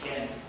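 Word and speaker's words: חֵן: It's a Hebrew word, means that's pronounced ken.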